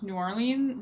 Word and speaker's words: New Orleans: bar called no liens which is like spelt so that you understand how to pronounce New Orleans New Orleans New Orleans